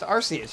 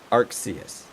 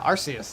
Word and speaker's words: Arceus: also a january release gotcha okay um it's pronounced arceus yeah that's what i said arxius yeah arceus that's what i said say arc arse arc